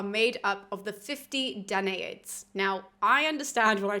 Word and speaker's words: Danaids: Now, I understand when I talk to people that people say this word very differently. It's up on the screen for you guys. I have always said Danaids, and so I'm not going to change now.